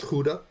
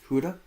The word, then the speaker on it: Gouda: It's a, Did you know it's actually pronounced Huda? Huda?